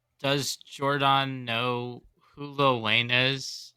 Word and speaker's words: Jordon: O-N, yeah, So it's Jordan. I'm pronouncing the O, so y'all I know think it's that I just know Jordan.